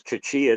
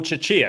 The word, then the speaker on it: Chechia: I think if his last name is Chichia, the answer is yes. Oh, Chechia, excuse me, mispronunciation.